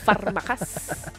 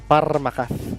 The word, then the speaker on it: Parmakas: Parmakas. Pinoy na Pinoy. The accent is on point. Ando Parmakas. Andu Parmakas. Kailangan nagro-roll yung R. Mhm. Parmakas.